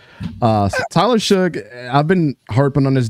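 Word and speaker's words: Shough: been calling him Tyler sh but it's actually pronounced Suge uh Tyler Suge I've been harping on this dude since he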